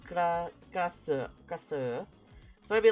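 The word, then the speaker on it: Krasue: So in English, it's typed like this, but it's not pronounced really like this. So it's like, I guess the closest way would be like kasu kasu.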